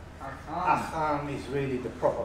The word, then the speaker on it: Achan: Achan is really the proper pronunciation.